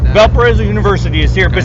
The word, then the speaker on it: Valparaiso: Like, and I was like, I can't even pronounce it. Is it? Valparaiso. Valparaiso, there you go.